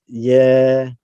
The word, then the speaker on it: Yedidya: This is how you pronounce it, is Yedidya.